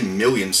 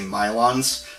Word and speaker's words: Milon: Then we got Milon's Secret Castle, and I actually used to say Million's Secret Castle, which is really weird. Like, I don't know why I pronounce it that way, because it's obviously Milon's, not Million's, but growing up, I always